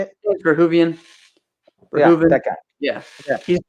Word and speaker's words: Verhoeven: Verhoeven.